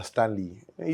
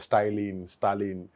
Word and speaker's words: स्टैनली: कि मेरा नाम है स्टैनली। यूपी में लोग ना मेरे नाम की गलत प्रोनाउंस करता है, स्टालिन।